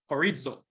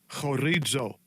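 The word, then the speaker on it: χωρίζω: And it says, let not the wife depart, Strong's G 5563, horizo. This is the pronunciation. Strong's G 5563, horizo.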